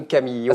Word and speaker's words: Camillo: Comment vous avez dit tout à l'heure Don Camillo? Don Camillo. Ah, c'est original, c'est la première fois que j'entends prononcer comme ça. Ah non, pas moi, un peu à l'italienne. Un peu, oui, à l'italienne.